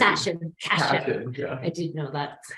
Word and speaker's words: Cashion: Like fashion with a C. Cashion.